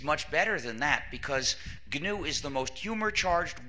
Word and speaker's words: GNU: better than that because GNU is the most humor charged word in the English language used in countless word plays because according to the dictionary the g is silent and it's pronounced new so every time you